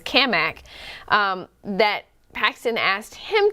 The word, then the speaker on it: Cammack: I have to say Cammack I want to say it intentionally because we've met we they finally how to pronounce his name and he says it as kamak um that Paxton asked